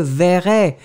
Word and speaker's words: verrai: la raison pour laquelle phonétiquement, votre E ne sera pas prononcé comme un E, mais vraiment comme un je verrai.